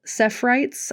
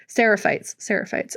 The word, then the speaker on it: Seraphites: character of Lev and Yara, they're from the Sephites. I think I said it right. Seraphites.